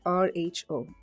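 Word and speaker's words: ρ: symbol you see here it's a Greek letter and it's pronounced Rho Rho where are the conditions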